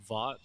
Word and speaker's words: Vaught: Vaught. Vaught. It's like Vaughn, but with a T.